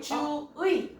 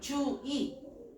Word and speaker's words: 주의: 자 그리고 단어의 첫음절 이외의 의는 의로 발음하는 것이 원칙이지만 이도 허용하죠. 주의 주이 잠깐만 나의 뭐가 되는